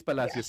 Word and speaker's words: Palacios: It's Palacios. Yeah. It's... Palacios. Okay. Think Hispanic.